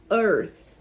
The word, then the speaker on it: Earth: em inglês é Planet Earth tá então primeira coisa que vocês tem que prestar atenção o e não é pronunciado você vai a pronúncia